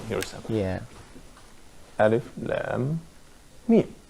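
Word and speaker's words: لام: This probably could be a regular rule for the Arabic alphabets, because here, the alphabet lam is written, and it's not pronounced la. It's pronounced as Lam.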